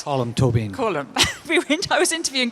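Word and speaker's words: Colm Tóibín: um I was interviewing colum toy Bean a couple of weeks ago and we had this discussion well there you go I said that wrong toan column I can get right colum tobine column we I was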